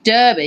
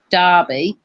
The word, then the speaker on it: Derby: Derby Derby Derby I Derby because it's spelled with a e but it's probably called Derby yeah two and a